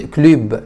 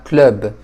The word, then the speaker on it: club: طيب بعدها اكلب اوكوب ومش بتتنطق كلو لا كلوب اوكوب هي بتتنطق الكلمه دي بالشكل ده الطبيعي ان احنا حرف الاي ده بنطقه اي لكن هنا هقول كلوب كلوب هي بتتنطق كده باللغه الفرنسيه او كلب او كلب